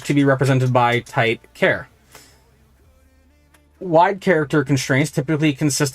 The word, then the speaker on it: char: whatever after and then any time I say care uh that's c h a r I'm trying to do it like how I say it like character um their purpose is